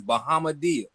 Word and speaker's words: Bahamadia: Her name is Bahamadia.